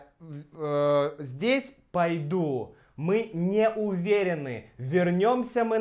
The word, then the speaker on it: пойду: Пойду. Конечно, здесь идет «а», потому что ударение на «у» — «пойду».